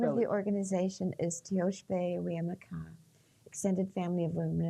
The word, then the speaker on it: Tiospaye: Teoshpe is spelled Tiospaye. Wia is Winyan, Maka, Maka. And you'll notice that in the Lakota language, S's are pronounced sh and C's are ch. So anyway, Teoshpe Wiamaka.